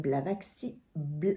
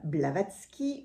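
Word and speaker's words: Blavatsky: pardon parce que je dois très très mal prononcer Sonon nom a vécu en Inde au 19e siècle madame blavaxi oh j'ai du mal avec les noms aujourd'hui pardon madame blavatski une des fondatrices de la théosophie à rencontrer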